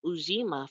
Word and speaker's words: Ujima: principle for today is Ujima. I think that's how you say it, Ujima. I sometimes get it mixed up with the fourth principle, with this Ujama or Ujama, but it is Ujima for today.